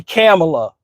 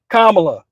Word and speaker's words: Kamala: Kamala, not Camela like Candace Owens was saying back in the day.